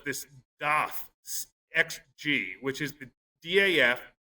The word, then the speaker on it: DAF: so cool was this xg which is the daf pronounced doth i was told and that's a european uh